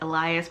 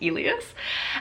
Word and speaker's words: Elas: Um and so it's Elas, which I always want to pronounce as Elias, but in the book they say it's pronounced Elas.